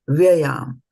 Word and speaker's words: vyayām: Vyayām, we are saying vyayām, but here kathayiṣyanti te vyayām. So when we are pronouncing it, this A becomes silent. That's the rule of Sanskrit language.